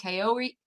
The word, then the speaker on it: Kaori: He tries to find his girlfriend Kaori. Kaori? Is that how you pronounce it?